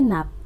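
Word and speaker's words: Knapp: semen आ semen ए नाप silent है य पे नाप पढ़ेंगे इसको नेक्स्ट फादर एक्सटेंशन एजुकेशन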